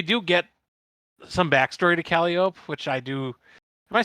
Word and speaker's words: Calliope: get some backstory to Calliope, which I do. Am I saying her name right? there's an E Like, at the end. it's close to Calliope. that. Calliope.